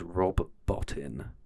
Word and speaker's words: Rob Bottin: I got his name wrong. His name is Rob Bottin.